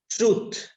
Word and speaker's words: truth: I mean, once I pronounce, you just repeat this word. Okay. Truth.